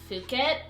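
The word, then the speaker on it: Phuket: Singapore and um India apparently it's pronounced fuk like puket but I'm just going to say puket cuz I feel really awkward saying puket I don't even know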